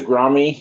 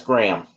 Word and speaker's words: Graeme: My main character is Grami, and I spelled it Graeme because why would you have all those silent letters? So clearly it has to be Grami. My editor's like, by the way, that's Graham.